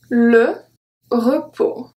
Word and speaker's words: repos: Le repos. Le repos. Okay, so I don't say repos, and I don't say bras.